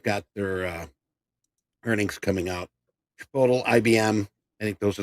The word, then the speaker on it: Chipotle: Chipotle, IBM.